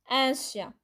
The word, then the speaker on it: un chien: Look, here, chien doesn't begin with a vowel. So it's un chien. Un chien. The end of un doesn't get pronounced.